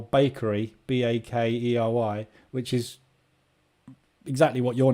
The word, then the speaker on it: Bakkarry: But in the UK, we spell bakery, BAKERY, which is exactly what your name is, but with an E in it. So pronunciation in English is bakery. Or bakery. I don't know. Bakery. There we go.